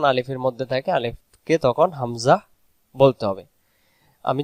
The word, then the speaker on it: হামজা: হামজা অক্ষর হলকের প্রথম থেকে শক্ত করে পড়তে হয়। হলক শব্দের অর্থ হলো গলা, বাংলাতে যেটা বলি গলা। যেমন আপনারা গলার নিচে হাত দিলে বুঝতে পারবেন, সে জায়গা থেকে হামজা উচ্চারণ হবে হামজা, হামজা, হামজা, হামজা, শক্ত করে আওয়াজটা বের হবে।